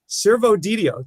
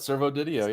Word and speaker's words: Servodidio: I'd like to welcome in the litigants, Mike Randle and Servodidio. did I get that right? Yeah, you pretty much nailed it. Servodidio, yeah.